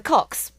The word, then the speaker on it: Koxx: There are the Cox. Ah. Which is a Korean band. However, they are spelt Koxx, but pronunciation-wise, let's face it, it's another word for penis.